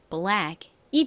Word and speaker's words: black: 이렇게 단어의 끝부분에 CK가 올 때에는 주로 기역 받침처럼 소리가 나요. 아주 중요합니다. 요거 잘 기억해 두세요. 자, 그래서 읽어보면 black이 됐죠. black.